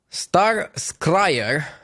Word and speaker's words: Star Scryer: Star Scryer rhymes with Star Crier.